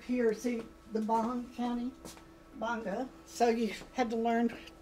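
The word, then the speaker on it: Gbarnga: I had to learn right away how to pronounce Bonga, which is right up here. See the Bong County? Bonga. So you had to learn, you know, where the G was silent.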